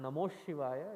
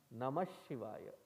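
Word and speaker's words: नमः शिवाय: it as namo shivaya so when you are chanting be careful it is not namo shivaya it is namashivaya ashiva means that which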